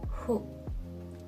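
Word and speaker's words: ふ: Pero no es una F. Su pronunciación en realidad está a medio camino entre una F y una H. Por eso está en esta columna del hiragana. Para pronunciarlo tienes que colocar los labios y la lengua como si fueras a soplar una vela. Y añadir la vocal U.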